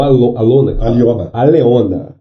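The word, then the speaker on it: Alëna: A Leona, então aqui se pronuncia Leona. Escreve Ale com os dois da linguicinha lá, como é que é o nome? O trema, com os dois tremas, né? E N-A. Então Alona.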